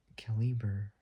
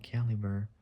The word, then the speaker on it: Caliber: So, it's spelled C A L I. So C A L I short initials for California. So Cali and then B E R. So Cali Burr or something like that.